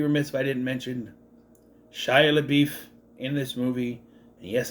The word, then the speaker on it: Shia LaBeouf: I would also be remiss if I didn't mention Shia LaBeouf in this movie. And yes, that's how I say his name, Shia LaBeouf, in this movie.